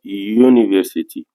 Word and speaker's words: University: si vous entendez bien University euh euh la prononciation du mot commence par le son I qui est une conson donc c'tait les